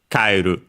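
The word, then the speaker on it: 帰る: And so, like in our case, kaeru on the ka.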